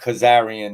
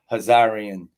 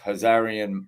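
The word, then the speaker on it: Khazarian: hazar because it's not Kazarian it's hazarian h um that's how it's really pronounced hazarian Mafia we always say Kazarian the K is silent they corrected me on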